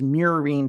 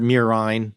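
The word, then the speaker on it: murine: of typhus known as mirine typhus that's m-u-r-i-n-e i might be saying it wrong but i i've also heard miraine independence yeah i am saying it wrong no no i'm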